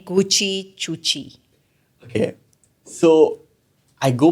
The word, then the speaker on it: Guchi: So they just called me Gucci. But they didn't spell it as Guchi. They didn't spell it as Gucci. It's Guchi. So then one day I